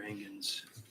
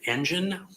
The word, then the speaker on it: Engen: Is it Engen, like an engine, or is it Engen? I thought I heard her say Engen. It's the latter.